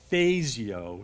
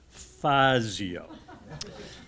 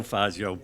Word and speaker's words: Fazio: he pointed out that the pronunciation of his name was Fazio, not Fazio. So something I want people to remember, Dennis Fazio, Fazio.